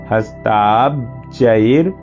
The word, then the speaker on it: हस्ताब्जैर्: यहाँ पर ब है आधा, तो हस्ताब बोलेंगे तो ब का उच्चारण हो जाएगा। हस्ताब्जैर् दधतीम घनांत विलसत, आधा